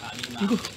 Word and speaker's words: 有馬: 哦，有媽嗰個發音就係阿姨媽。